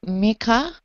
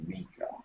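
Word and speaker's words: Mikkah: I would like it to be Mika. I would like it spelled M-I-K-K-A-H, but pronounced Mika.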